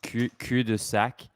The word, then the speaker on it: cul-de-sac: Do you know that the word cul-de-sac in French is pronounced cul-de-sac? Oh, so he was pronouncing it right. He was pronouncing it the French way.